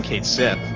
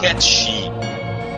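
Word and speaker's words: Cait Sith: Well, I can talk shit on Kate Sith, because his name is actually Kate Shit. Got it? Oh. Ha! It's Haha. catchy.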